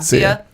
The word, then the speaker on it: Sia: Sia.